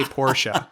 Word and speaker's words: Porsche: I'm going to find one of those T-shirts from the '80s that said Porsche is a 2-syllable word.